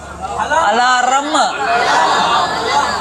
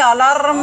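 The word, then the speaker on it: alarm: and ringing a अलाम there is नो रम इन अलाम unless you drink and sleep अलाम व्हाई इज are silent why इज are silent before कसने sound before consonant sound R E silent so नो अलाम application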